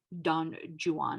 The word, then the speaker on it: Don Juan: Now, the Romantics, mostly by the way of Lord Byron in his poem Don Juan, and yes, that is how it's pronounced, alas, attempt to revive the rake as a figure.